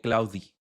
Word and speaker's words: Claude: ¿Tú cómo pronuncias Claude? Yo lo pronuncio Claude. Pero el otro día alguien me dijo Claudi.